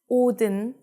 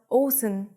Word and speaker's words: 옷은: So 옷은 would not be pronounced 오든, but 옷은.